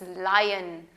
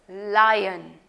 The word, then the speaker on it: lion: The correct pronunciation for this word is not loin, it's lion.